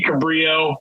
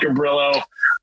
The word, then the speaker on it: Cabrillo: things correctly gillo Beach it should be Cabrio but we call it Cabrillo uh should be San